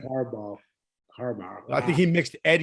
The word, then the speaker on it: Harbaugh: I was like, did he say Harborough? I meant Harbaugh. I think he mixed Ed Yarborough with John Harbaugh.